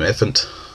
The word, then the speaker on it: Ephant: I've always called him Ephant, like elephant, and he does resemble an elephant.